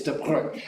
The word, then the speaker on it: de Broglie: It's de Broglie.